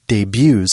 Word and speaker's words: debut: Louie things there's no the T is silent yes an example sentence might be before the movie debuts on Friday the company